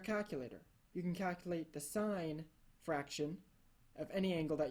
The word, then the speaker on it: sine: I'll just say the sine of five degrees is equal to point zero eight seven and we pronounce it sign but we spell it